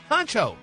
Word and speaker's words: Huncho: Keisha is back with her man, Huncho.